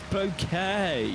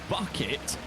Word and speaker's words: Bouquet: It's Bouquet, not Bucket.